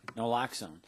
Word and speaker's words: naloxone: of noxil and how do you say that naloxone naloxone yeah and we've had some success with that